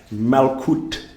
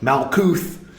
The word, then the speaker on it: Malkut: Gebura, Malkut, not Malkuth. But it's okay. You can pronounce it that way.